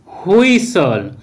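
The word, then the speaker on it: whistle: Rule one, কোনো ওয়ার্ডের মধ্যে অথবা শেষে এস টি এল ই একসাথে থাকলে তখন কিন্তু ওই টি লেটারটির উচ্চারণ সাইলেন্ট হবে। যেমন অ্যাপসল অ্যাপসল, ক্যাসল ক্যাসল, হুইসল হুইসল, বাসল বাসল, হাসলার হাসলার, রেসলার রেসলার ইত্যাদি।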